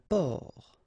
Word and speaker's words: port: Un port. Un port. Okay, exactly the same thing here. Only the last letter is different. You don't pronounce it, and then both of them are masculine.